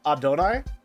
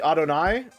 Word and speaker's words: Adonai: Uh, Adonai usually has the stress put on the second or third syllable as well. So, uh, Adonai.